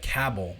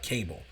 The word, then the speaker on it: Cabell: Cabbell Midland, not Cable.